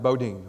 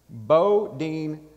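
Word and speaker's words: Boudin: bread factory called boating bakery spelled bodan but pronounced bodine on the west coast bo dean fact bread factory the oldest sourdough bread factory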